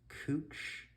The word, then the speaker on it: Couch: but we would have cooch spelled like couch for C Davis for d then Everett Flanders Gleason Hoyt Irving Johnson Kearney love joy Marshall Northrop for n over 10.